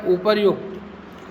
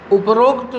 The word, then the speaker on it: उपर्युक्त: प्रारंभ हो जाते हैं इसी प्रकार का एक शब्द है उपर्युक्त उपर्युक्त का अर्थ है ऊपर लिखा हुआ उपयुक्त लेकिन हिंदी में उपरोक्त शब्द जल उपयोग के लिए